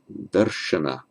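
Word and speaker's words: दर्शन: Note that the r does not make the following n retroflex, because sh is one of the consonants that requires a repositioning of the tongue to pronounce it darsh, because the tongue's got to go up to be under the hard palate.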